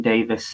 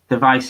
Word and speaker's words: Device: I don't want to be pedantic or anything, but it's device is technically wrong. It's no, not at all. Not at all. It's the surname Davis spelled phonetically, you know.